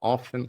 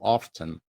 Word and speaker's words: often: Pode pronunciar often ou often.